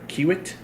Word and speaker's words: Kiewit: You said you work for Kiewit. Kiewit. So, Kiewit.